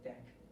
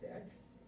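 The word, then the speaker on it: deque: Last in, first out of queue, that's called a deck. There's another, it's pronounced as deck.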